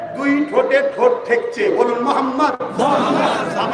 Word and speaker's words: মোহাম্মদ: আপনারা সবাই একবার বলুন মোহাম্মদ আপনারা একবার উচ্চারণ করুন মোহাম্মদ খেয়াল করে দেখুন নবীর নাম নিলে দুই ঠোটে ঠোট ঠেকছে। বলুন মোহাম্মদ আমার নবীর নাম চুমা না দিয়ে পৃথিবীর